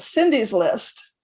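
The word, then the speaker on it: Cyndi's List: And so wherever your listeners are from, one of the free resources is called Cindy's List. It's spelled CYNDI ' list.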